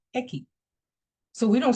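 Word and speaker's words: equis: in the Spanish language x the letter is pronounced eki so we don't say latini we that's not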